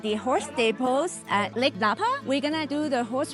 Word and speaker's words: Napa: We are at the Napa Lake, pronounced the same way as the Napa Valley in California.